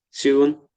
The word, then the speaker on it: Seoul: Uh, Silent. We don't pronounce the E. Silent E. Seoul, Korea.